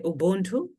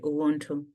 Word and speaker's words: ubunthu: In Chitumbuka, B can also be pronounced as W, but it depends on what you are talking about.